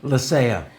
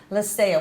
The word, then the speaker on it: Lecea: Lecea. Lecea. What nationality? That's Spanish-French Basque. It's a Basque name.